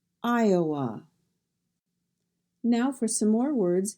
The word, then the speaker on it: Iowa: And in Iowa, we have Iowa, Iowa.